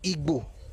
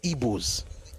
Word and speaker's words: Igbo: But they're not Igbos. And even the Igbos, even if they spell their name as IGBO, they still don't pronounce it like Igbo. They never use the word Gbo.